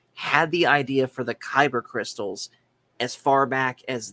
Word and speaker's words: Kyber: the idea for the Kyber crystals as far back as this. Now, admittedly, it's spelled differently. It's spelled Kaiburr, when we all know it as spelled Kyber.